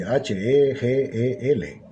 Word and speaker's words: Hegel: Se escribe así, H-E-G-E-L, Hegel.